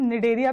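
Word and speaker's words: Cnidaria: तो ये सिलेंट्रेटा को ही हम निडेरिया भी कहते हैं, इसमें सी हमारा साइलेंट होता है, और ऐसी टीनोफोरा, इसमें भी हमारा सी क्या होता है?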